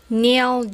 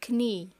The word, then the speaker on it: knee: ني لا نقول كني، خطأ، أين أن نقول ني.